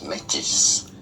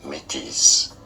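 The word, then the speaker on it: Métis: it is pronounced as metis therefore some pronounce it the French way as metis but in English it is often also pronounced as mi mi with a silent s especially in Canada for example it is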